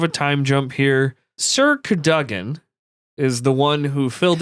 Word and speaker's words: Cadogan: I would say that's Cadigan?